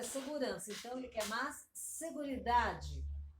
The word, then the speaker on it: seguridad: Então, ele quer mais seguridade. Você fala seguridade, com D mudo, né? Seguridade.